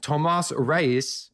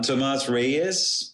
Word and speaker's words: Tomas Reyes: it but we have got none other then tomas rice which I'm totally mispronouncing but he'll fix it for me and